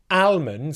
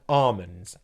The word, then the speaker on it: almonds: day you will know not to pronounce Salman or almonds or almonds but salmon and almonds okay those are just